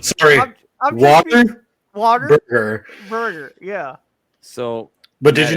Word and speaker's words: Whataburger: Yeah, like water and then burger. That definitely was not water. I know. I'm just being funny. Sorry, I'm just being- water water burger.